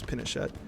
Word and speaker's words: Pinochet: And then the CIA said, absolutely not, assassinated him, and then basically appointed somebody called Pinochet, or Pinochet, however you want to say his name, it's Pinochet.